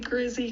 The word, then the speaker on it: Grizzee: to cover today is where did the name Grizzy come from so we spell it g-r-i-z-z-e-e as opposed to Grizzly with an